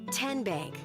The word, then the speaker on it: Tenbank: So, what is it? Tenbank. 10 as in Tennessee.